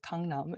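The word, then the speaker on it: 강남: it's come numb and that's what it's called Kangnam and the reason why we read it like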